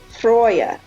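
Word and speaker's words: Freyja: His wife we call Freya, but it is actually pronounced Freya.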